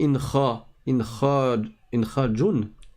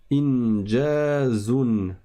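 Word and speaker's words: إنجاز: Et ensuite, donc Yasuke, tu t'es trompé, parce que tu as dit incha, jun. Alors tu t'es trompé sur les deux dernières syllabes. Là, tu as le point en dessous, c'est un jim. Ça fait inja, inja, inja. Et la dernière lettre, c'est pas un jun, c'est un zei.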